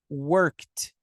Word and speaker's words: worked: Quando o verbo terminar com K, você vai pronunciar com T. Então, por exemplo, work, você vai pronunciar worked.